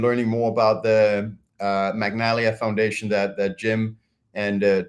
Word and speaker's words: Magnalia: And that is Magnalia. It's not Magnolia. So Magnalia, get to spell it correctly.